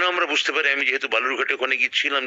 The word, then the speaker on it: বালুরঘাট: থেকে বেশি ভোট পড়েছে বালুরঘাটে, 72%। সেই বালুরঘাট যাকে বিজেপি সাধারণত বেলুর ঘাট বা বালুঘাট ইত্যাদি ভুল উচ্চারণে ডাকতে, যাকে সিদ্ধহস্ত, এবং ওই উচ্চারণটাকেই খুব সঙ্গত বলে মনে করে।